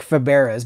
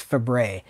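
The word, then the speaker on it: Fabares: That's how you pronounce it. It looks like Faberes, but it's Fabre.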